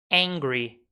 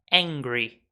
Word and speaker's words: angry: fome faminto Hungry bravo angry Ok então foca aqui nessa aqui em sem h né só o som do angry ele está bravo O